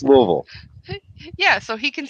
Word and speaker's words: Louisville: you're not from Kentucky Louisville it's pronounced Louisville Louisville I lived there for four years it's pronounced Louisville yeah so he can